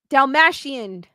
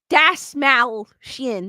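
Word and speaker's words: Dastmalchian: Dalmatian. Dasmalchian.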